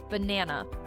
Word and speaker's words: banana: Banana, you stress the second syllable, ba-na-na.